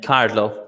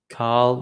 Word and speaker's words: Cathal: So Cathal. It's an Irish name. It's the same as Carlo in Italian, but the pronunciation is quite strange. So if you just say Carl, like Carl, no Cahal or Catal, Carl, that's perfect.